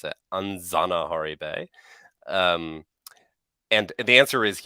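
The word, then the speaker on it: Anjanaharibe: the anzanahari basude so in malagasy the J is pronounced as we pronounce as Zed so it's a anzana hori bay um and the answer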